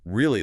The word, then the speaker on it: really: Yes, on paper, really looks like it should have 3 syllables, or at least a very distinct transition. Really. Really? But the text points out that native speakers crush this word down into 2 very fast, tight syllables.